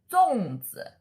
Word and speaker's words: 粽子: The Chinese pronunciation is killing you. 端午节. Dragon Boat Festival. And 粽子.